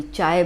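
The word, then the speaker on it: χ: इसको प्रोनाउंस करते हैं काय, KII, ठीक है, ग्रीक वर्ड है काय। किसी में काय बोलते हैं, कोई चाय बोलता है, कोई जाय बोलता है, ठीक है।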